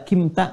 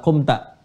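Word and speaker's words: قُمْتَ: Ya kalau kalau i terlalu berat. Kimta enggak enak juga diucapkannya. Orang Arab pun enggak enak feelingnya ya. Makanya menggunakan dammah. Quumta.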